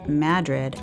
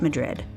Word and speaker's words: Madrid: Now note that the locals will tell you it's Madrid and not Madrid.